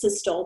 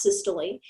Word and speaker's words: systole: heart contraction is systole it looks like it's systole but it's pronounced systole and the word for relaxation is diastole so